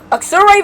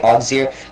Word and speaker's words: Auxerre: Apparently that city's name is pronounced like either Auxerre or Auxerre, but I'm just gonna say Auxerre.